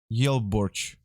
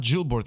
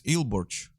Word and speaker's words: Yelborch: Regarding correction pronunciation, I think my nick is correctly pronounced Yelborch in Russian. Yelborch. Ooh, nice. Yelborch. And it's not Gilbert, it's Ilborch.